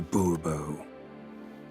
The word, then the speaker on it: de Bourbeau: Monsieur de Bourbeau. The emphasis falls on the last syllable.